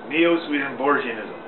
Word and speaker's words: Neo-Swedenborgianism: about Neo Sweden bism Neo Sweden bism is a nine syllable word NE o Sweden Bor gism it has a soft G like George Neo Sweden Bor ganism Neo swedenborgianism and as I said